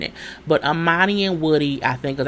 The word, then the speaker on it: Amani: Her name was Amani, not Armani. I kept saying it with an R, there's no R in it. But Amani and Woody, I think, is our fave, along with Amelia and Bennett.